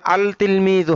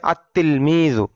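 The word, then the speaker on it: التلميذ: যেমন তিলমিজুন এখানে আল তিলমিজু হবে না হবে আত্ত তিলমিজু। লাম টা লেখায় আসবে উচ্চারণে আসবে না।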